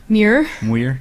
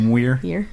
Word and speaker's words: Muir: Muir. Yep. Muir. You're Mr. making fun of my pronunciations again.